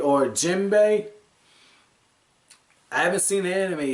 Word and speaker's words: Jinbe: we find out when jimby or jimbei i haven't seen the enemy yet so i'm not strolling the pronunciation i think it's jimbei he's like yeah i'm